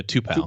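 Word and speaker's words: Tupou: hill's back uh and uh how do you pronounce the other kid's name tupo uh yeah two-pack okay so they're both back uh both been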